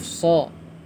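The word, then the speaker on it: ص: Untuk membaca huruf-huruf muqatta'at ini, kita membacanya sesuai dengan nama hurufnya, seperti huruf nun, dibaca 'nun' karena namanya adalah nun; Huruf shad dibaca sesuai dengan namanya 'shad'; Huruf kaf juga dibaca sesuai namanya 'kaf', seperti itu.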